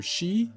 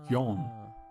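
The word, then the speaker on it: 四: song name for shin the number four in Japanese can be pronounced either she or yon for n is just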